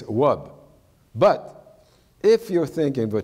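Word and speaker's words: wòb: U or o or o in cre it's pronounced W like the word for dress which is in French rub in Creo it's wub but if you're thinking a transational system where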